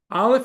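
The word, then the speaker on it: אלף: So, olif is just a blank sound. Olaf is silent.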